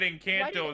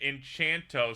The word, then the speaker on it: Encanto: he did Grill ay for thinking Ino was pronounced enchanto found out that Encanto is not pronounced enchant to so I'd like to